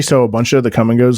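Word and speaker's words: Kum & Go: It's spelled K-U-M. Come and Go, and then we also have so in like the northern part of the state we have Quick Trips.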